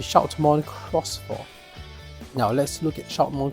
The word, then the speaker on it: Shoutmon X4: sense so Cross Four so I've been pronouncing it wrong for the first like 1 and a half minutes of this log already it's supposed to be Shon cross 4 now let's look at